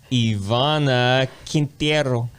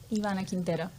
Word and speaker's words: Ivana Quintero: guy in the red tie susan ebert and ivana quintiero sorry everybody i'm still working on my pronunciations how do you say how do you say your name ivana quintero they always do it so beautiful no i